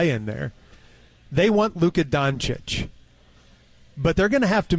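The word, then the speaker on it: Dončić: the pronunciation it is done chich like Cheech but chich now they say that in Serbia it's Cheech but everybody here calls him chich and I think for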